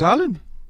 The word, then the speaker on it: Haaland: cut you that again it's Harland yeah it's Harland it's all because of Harland I think physic and